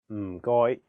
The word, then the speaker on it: 唔該: The first character is in a very low tone, fourth tone. It sounds a bit like when someone is thinking about a plan and they say, Notice that there is no vowel in this syllable, so you have to really stress the sound. And then the second character is in a high flat tone, first tone.